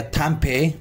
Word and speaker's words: Tempeh: So next we have a Tempeh or Tempe. The pronunciation, clear?